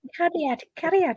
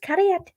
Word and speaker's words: Cariad: You don't have to say it like Cariad. It's just Cariad.